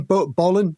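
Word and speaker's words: Bolin: Um and he he's really big into Tommy Bolan and is it Bolan? Bolan.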